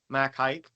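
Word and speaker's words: Mac Haik: to find a video it's called mack hike so i called mack hike and i the lady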